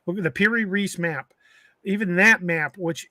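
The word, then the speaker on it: Piri Reis: these creatures and even the py rice map the per Reese map sorry I'm hillbilly I pronounce it wrong the per Reese map even that map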